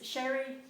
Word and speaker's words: Sherry: but my name is sherry and it's spelt s-h-e-r-y so it's pronounced sherry like the drink my middle name is